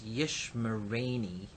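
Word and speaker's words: ישמרני: And finally, for pronunciation purposes, we may introduce an extra syllable. So yishmor, he will guard, and ni, me, becomes yishmereni. Notice we've added this Zere here, to make this pronounceable, Yishmereni.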